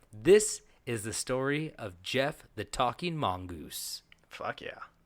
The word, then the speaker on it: Gef: This is Gef, G-E-F. G-E-F. It is pronounced Gef, though. Gef. Yes. It's not Jeff, it's Gef.